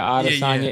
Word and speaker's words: Adesanya: Again, Adesanya, that's how you say his name? The UFC fighter? Yeah, Adesanya, Israel Adesanya.